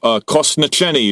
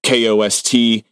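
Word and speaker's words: kostnatění: But Kosnacheni is it's ossification in Czech, and it's Kostnateni.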